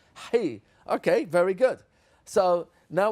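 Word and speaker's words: ח: If you're Sephardi and you can pronounce it properly, it's not chi, it's hi.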